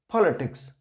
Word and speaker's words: politics: just before p, and we will have to pronounce this p with the force, politics.